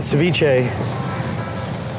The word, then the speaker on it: ceviche: This is ceviche. Ceviche. Yeah. That's how you say it.